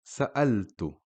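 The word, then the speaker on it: سألت: The next word is sa'altu. Sa'altu, which means asked. Now again, you see the Hamza carrying a fatha, so the word is pronounced sa'a. Sa'altu. Here we have a Hamza carrying a kasra.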